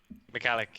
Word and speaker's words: Michalik: my guest is michalik or is it mccallick mcallick is the pronunciation that i generally use but it is